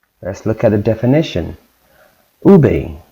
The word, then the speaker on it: ube: Ube, pronounced ube, is a purple yam that is a staple in the Philippines.